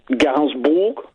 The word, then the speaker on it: Gainsbourg: How do you pronounce her last name? Gainsbourg.